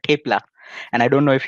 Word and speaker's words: thepla: Tipla? Oh, you get it. I mean, you'll not face any problems if you come to Gujarat, you come to Ahmedabad. You just tell Thepla, give me Thepla.